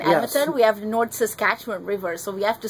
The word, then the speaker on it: Saskatchewan: Almost 4 years of living here, I can finally say it is Saskatchewan. Yes. Am I saying it right? Saskatchewan, yes. Saskatchewan.